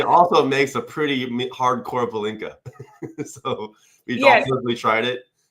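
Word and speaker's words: pálinka: Is it the other way to pronounce? No, is it palinka?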